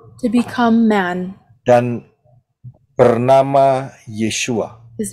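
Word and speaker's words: ישוע: to the left yaitu Yod Shin wau Ayin yang yang diucapkan adalah yesua Andon pronunciation is yesua Mengapa yahwe menjadi manusia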